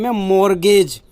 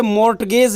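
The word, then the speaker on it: mortgage: मैंने लिया जिसका ने मोरगेज इसे मॉर्टगेज नहीं गए थे से बोलते हैं मॉर्गेज इसमें मिट्टी साइलेंट है तो क्या लिखा है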